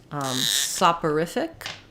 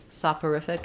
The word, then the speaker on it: soporific: saporific and exonerated um so soft horrific um saw so this or is more of an ER sound sopper I'm mixing up my IPA and my spelling software sopper I'll sync we'll write it like this instead of writing it with per we'll do periph SAP uh riff thick and then for exonerated